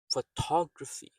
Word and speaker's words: photography: Photography. Photography. So the first syllable is soft unstressed.